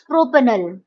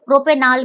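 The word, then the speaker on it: propanal: अल, तो this becomes प्रोपेनल, ठीक है। प्रोपेनाल भी लोग बोलते हैं, बट it's better to pronounce it एज प्रोपेनल, right, clear.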